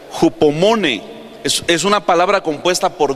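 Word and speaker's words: ὑπομονή: Mire, la paciencia viene de una palabra que se pronuncia hupomone.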